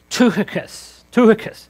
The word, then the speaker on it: Tychicus: The actual pronunciation of this first name is actually Tychicus.